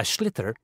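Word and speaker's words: sliotar: This is what it looks like, and basically you have to get this ball, called a schlitter, that's S-L-I-O-T-A-R, so it's not spelt the way it's pronounced.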